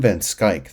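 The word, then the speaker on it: Schaik: strongly recommend this article if anybody's curious sam van skyk that's how you pronounce his name is one of the very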